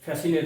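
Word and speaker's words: fascinate: এস এর পরি আই থাকে তখন কিন্তু সে উচ্চারণ হয় না যেমন সাইন্স আছে ফ্যাসিনেট আছে কনসাস আছে এইযে কনসাস ফ্যাসিনেট সাইন্স এর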